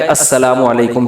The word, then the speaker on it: السلام علیکم: میرے بھائی کا السلام علیکم اور صلی اللہ علیہ وسلم کا صحیح تلفظ بتا دیں. السلام علیکم کا ہے السلام علیکم, جو آج کل لوگوں نے ساشے پیش کر رہے ہیں, سلام السلام ایسے سلام ہو رہا ہے السلام.